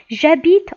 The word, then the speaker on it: j'habite: H est un H muet ici. Habite. J'habite en ville.